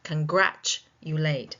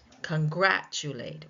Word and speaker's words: congratulate: If the word ends in a at communicate, the second syllable takes the stress.